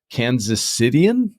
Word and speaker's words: Kansas Citian: I'm going to assume that you're a native Kansas Citian.